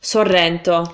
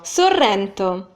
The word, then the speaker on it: Sorrento: sound 500 times better Sorrento Sorrento it's very popular so here you have the double arse yes again Sorrento Sorrento which is extremely